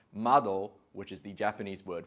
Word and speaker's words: Madoo: Now the brand is spelt Madoo, but we have confirmed that it is pronounced Madoo, which is the Japanese word for window.